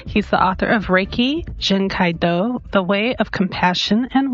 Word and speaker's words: Jin Kei Do: And am I pronouncing Jen Kaido? Jin Kaido.